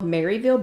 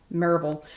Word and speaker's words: Maryville: pm with christy g marvel church of christ which is in you guessed it maryville and that for ladies who don't live here it is spelled maryville but it is pronounced marvel so if you go